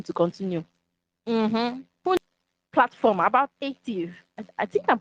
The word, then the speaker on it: Aetiv: Platform about Aetiv. I think I'm correct with the pronunciation, right? Aetiv, right?